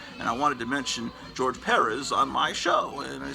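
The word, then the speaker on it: George Pérez: facebook they would say accent on the first syllable they're trying to teach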